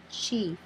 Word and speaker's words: chief: e is silent but there are exceptions for example chief here the first vowel is i but this digraph makes the long e sound e ch e f chief the next example is